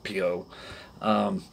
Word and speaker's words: tampo: You'll see some videos about them being Tampo, Tampo, however you want to pronounce it. It's Tampo.